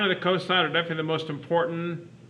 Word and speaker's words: cosine: really important trig function it's written cos but it's pronounced cosine of theta maybe here all right